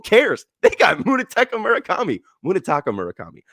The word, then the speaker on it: Munetaka: Munitaka Murakami. I don't think it's Munich. It's it's spelled Taco.